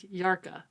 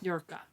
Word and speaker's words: Hjarka: Yeah, it's spelled Hjarka. Well, it sounds like Yarka on the audiobook. Good to know. Yurka.